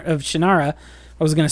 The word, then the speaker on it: Shannara: I was the pedant who, after I met Terry Brooks and he said, "It said Shannara," I drilled into my brain, even though I